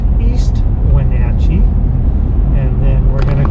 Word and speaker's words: East Wenatchee: The town I live in is pronounced East Wenatchee, and then we're going to go across the Columbia River, which separates East Wenatchee from Wenatchee.